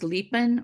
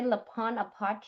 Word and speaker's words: Lipan Apache: I I've heard Lipan. it say Lapon Oh, Apache, Lapon Apache. but Okay. then I've heard other people say Lipan Apache. Mhm. So I don't know if it's either way, La Yeah.